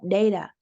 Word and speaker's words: data: The contrast, look at the pronunciation of data. The first D is very strong, but the T pronounced as a D is softer.